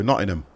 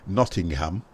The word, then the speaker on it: Nottingham: not a ham a if you're from Nottingham you don't use the H if anybody pronounces Nottingham and they're from Nottingham they'll go not in him they don't go Nottingham they go not in him Oh st.